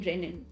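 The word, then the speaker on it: rennin: Obviously we're talking about milk digestion, so we are talking about the double N renin. It's pronounced the same way and not the single N renin.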